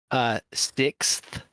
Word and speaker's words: sixth: if you pronounce it fully, like many people don't, but uh, sixth. Yeah. It's like the X and then TH.